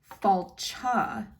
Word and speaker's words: fáilte: as he says it, falcha, almost with the CH sound at the end.